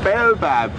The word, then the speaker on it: baobab: Baobab, I say baobab. A baobab tree is how I would pronounce it.